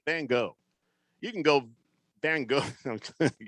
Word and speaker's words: Van Gogh: which by the way that's the proper pronunciation it's van gogh van gogh you can go bang